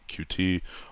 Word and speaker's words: Qt: Some people pronounce this cute, some people call QT, whatever.